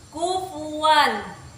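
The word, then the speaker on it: كفوا: pada kata kufuan itu hukum tajwidnya izhar karena ada tanwin yang bertemu dengan alif cara membacanya itu jelas seperti ini kufuan kemudian lagi pada kata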